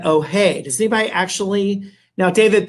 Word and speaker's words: Hoay: It's spelled H-O-A-Y. H-O-A-Y. Not to be confused with All Hands Ahoy, but Ohay.